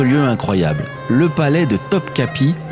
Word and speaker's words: Topkapı: Mais avant, je vous emmène dans un autre lieu incroyable, le palais de Topkapi, qui se prononce d'ailleurs Topkapı en turc.